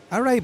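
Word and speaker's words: awry: Sir, the pass goes arai. Arai. A W R Y.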